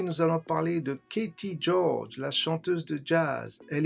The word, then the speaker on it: Gyorgy: Son nom de famille se prononce George, même s'il s'écrit différemment. Si on remonte à quelques générations, elle est d'origine hongroise.